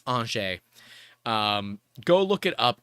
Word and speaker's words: Angers: look it up it's it's spelled a-n-g-e-r-s angers but it's anshay um go look it